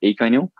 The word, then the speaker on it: Econyl: acro it's it's e-c-o-n-y-l i've heard about eight different pronunciations but some say econ or something can you you can take your pick um that's a really